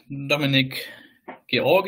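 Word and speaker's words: Dominik Georg: last but not least I'm Dominic gor as it's pronounced in here in in Germany or George for convenience um um yeah I'm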